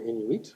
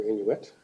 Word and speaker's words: Inuit: The Inuit can be pronounced you can pronounce them either Inuit or Inuit. Either is correct and some people are unsure of which way to go.